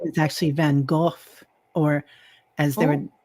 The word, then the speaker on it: Van Gogh: And his name is actually Van Gogh, or as they Oh, would pronounce it there, Van Gogh.